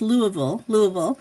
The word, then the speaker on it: Louisville: And I would never have imagined that this journey would have taken me to, and I'm glad you reminded me, it's Louisville, because Nurse Rosa, who, we all know, I had to hear it from her a couple times before I pronounced it correctly.